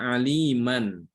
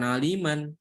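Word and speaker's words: عليما: Contoh ya pada kata aliman. Ya, aliman. Kalau ini di akhir ayat maka dibacanya alima. Kalau kita mau berhenti di situ maka dibaca alima, bukan aliman, tapi alima.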